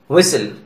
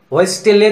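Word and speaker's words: whistle: लिसन, कैसल, व्हिसल. यहां लिस्टेने, कैस्टेले, व्हिस्टेले तो नहीं बोलेंगे ना, बोलने में भी अजीब लगेगा और फ्लुएंसी में भी दिक्कत होगी, इसीलिए यहां टी को साइलेंट किया गया है.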